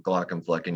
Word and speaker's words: Glaucomflecken: Well, first of all, good job saying my name, Glaucomflecken. You nailed it. You went slow. That's the key. You gotta take it one syllable at a time.